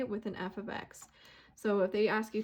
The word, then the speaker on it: f(x): notation uses this little guy right here we pronounce this as f of x so i have a random for you here